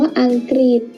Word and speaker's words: อังกฤษ: นั่น เอง ค่ะ หรือ คำ ว่า อังกฤษ อังกฤษ ตัว รึ ออก เสียง เป็น ริ ลิ เรา ก็ จะ แทน ตัว หรือ ด้วย รอ เรือ สระ อีก กลาย เป็น